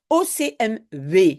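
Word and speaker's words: OCMW: connaître l'abréviation au CMV c'est comme ça qu'on prononce ocmv hein on dit pas W on dit V c'est le CPS euh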